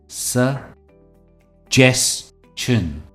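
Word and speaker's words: suggestion: पर है सजेसन इसकी सही प्रोनंसिएशन है स जेस्टन सजेन जो स्ट्रेस है वो जेस्ट पर है यानी अपना ओपिनियन देना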